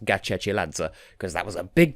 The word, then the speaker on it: Gachechiladze: wanted to confirm that her name is indeed pronounced Gatchell Adso because that was a big deal for me